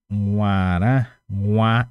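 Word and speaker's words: guarã: Nguara. Esse aqui é bem complicado de pronunciar, mas tem que aprender. Que seria assim, nguara.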